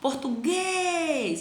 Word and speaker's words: português: Ó, português, a sílaba tônica, guês.